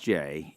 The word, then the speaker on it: Gex: got an unusual name spelled gex and pronounced J up in Carroll County